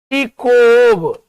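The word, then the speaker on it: Chekhov: यहां चिखोव अर्थ निकलता है लेकिन इसको उच्चारण में को ही पढ़ते हैं, है ना, चिकोव ऐसा पढ़ते हैं, चिकोव, याद रखना मेरा भाई, चिकोव, एंटोन चिकोव।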